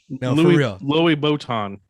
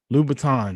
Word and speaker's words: Louboutin: americans say that name louis boton for real louboutin louboutins yes yeah yeah i'm redneck